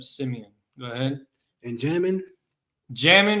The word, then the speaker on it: Jamin: Jamin is pronounced Yamayan, which means right hand.